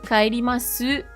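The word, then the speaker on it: 帰ります: Pourquoi tu ne prononces pas le E à la fin de su, kaerimasu? Parce que le U à la fin des mots comme des et toutes les formes en mas, on n'insiste pas trop dessus.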